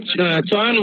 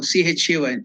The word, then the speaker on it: Chayan: No, not Chauhan, Maharaj. Oh, Chauhan. Can you spell it? So, CHAYAN. Oh, CHAYAN.